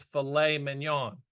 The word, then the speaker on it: filet mignon: I'm like, Mom, it's filet mignon. She goes, it's got a T in it. I know, but they don't pronounce it. It's filet mignon.